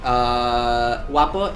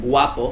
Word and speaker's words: guapo: But the way that we pronounce it, we don't pronounce it guapo, we pronounce it guapo. Like if it was with a W.